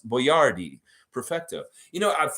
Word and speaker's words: Boyardee: been practicing to pronounce Boyardee Perfecto you know when I was a kid it was always Chef Boyardee Chef boy Rd but I know it's Boyardee and yeah it's such